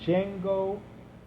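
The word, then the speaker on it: Jngo: the company is called Jango facilities LLC not spelled like the movie Jango it doesn't have a d at the beginning it's j n g o uh the president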